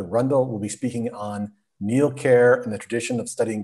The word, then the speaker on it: Neil Ker: you uh and bill congratulations also on your pronunciation of uh new care over the ages uh the memories of how